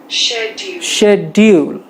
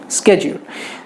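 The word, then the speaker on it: schedule: दिया हुआ है, उसने स्लो मोड में सुनिए शेड्यूल, ठीक है। ये हो गया इंग्लिश, इंडियन इंग्लिश। अगर आपको ब्रिटिश प्रोनाउंसिएशन सुनना है तो ब्रिटिश पे जाइए और देखिए शेड्यूल।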